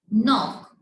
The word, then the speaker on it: knock: We pronounce like knock. हम ऐसे तो नहीं बोलते ना कि knock. No, it's wrong. We will pronounce like knock. The K is silent over here.